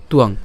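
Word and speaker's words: ত্বং: আকার অনুস্বার ঠিক আছে তুয়াং তুয়াং এভাবে উচ্চারণ করতে পারেন চ তুয়াং ইয়েসাং চতুং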